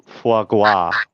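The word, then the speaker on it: foie gras: space g r AA the r is silent it's faga I'm looking at for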